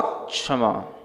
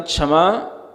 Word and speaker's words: क्षमा: हैं एक ध्यान रखें जब भी संस्कृत में क्ष पढ़ा जाता है तो कस योग क्ष सूत्र आता है तो उसमें छ से पहले आपको थोड़ा क का उच्चारण करना उत्तम क्षमा नहीं तो उत्तम क्षमा ऐसा हो जाएगा है ना वो क्षमा में फिर आपको ये समझ नहीं आएगा छा छत्री वाला है कि छ छत्री